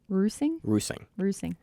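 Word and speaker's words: Reusing: kendall's kendall's last night i've called her riesling for like three like the line like the wine okay one more time roosing kendall russing that feeds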